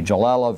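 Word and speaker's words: Galella: Joella uh g-a-l-e-l-l-a uh it's an Italian name so I assume it's a soft G jallella versus Onassis as in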